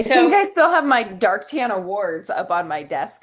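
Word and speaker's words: Darque Tan: And I first met her when she was working at is it Dartan? Am I saying it right? That's correct. Otherwise pronounced as Dark Quayan.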